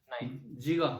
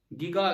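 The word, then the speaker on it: giga: जीगा, हाँ जीगा होता है। गीगा, गीगा तो नहीं, जीजा होता है। जीजा भी नहीं होता भाई, जीजा भी मत बोलना, जीगा, ये इसकी प्रोनाउंसिएशन होती है जीगा।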